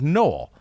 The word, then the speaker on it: Noel: For people who do not know yet, my last name is pronounced like null. Had this question a lot lately. So, not only is it pronounced like null, it is pronounced null.